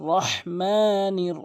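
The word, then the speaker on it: ٱلرَّحِيمِ: দেখুন কি মারাত্মক লেভেলের ভুল অধিকাংশক আর রহমানির রহিম বলে এখানে ভুল উচ্চারণ বলতে হবে আর রহ এখানে হাতি হলকের মাঝখান থেকে আর রাহমানির রাহিম অধিকাংশ লোক রহিম বলে বলতে হবে রাহিম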